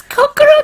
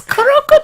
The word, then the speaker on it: Kuroko: It's Kokoro Tetsuya, though. Kuroko. It's Kuroko Tetsuya, though.